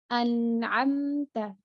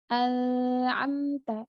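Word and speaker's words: أَنْعَمْتَ: Contoh, an'amta. An'amta. Bukan al-amta. Itu salah, karena masih samar. Nah, yang benar bahwa dia harus diperjelas, nunnya diperjelas, dimatikan dengan jelas, kemudian huruf setelahnya pun dibaca dengan jelas. An'amta, an'amta, an'amta.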